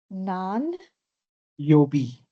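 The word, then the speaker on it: 何曜日: Nan, Yobi. nan Nan. yo. B. Nan yobi. Is it B or is it you? No, it's B. B-I.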